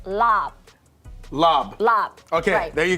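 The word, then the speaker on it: larb: going to say this on TV it's not pronounced lar say it one more time for everybody at home it's not pronounced lar it's pronounced lob lob lob okay there you go we're we're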